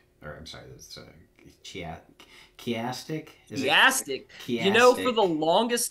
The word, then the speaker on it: chiastic: this this stochastic or I'm sorry that's uh chiastic you know for the longest time I was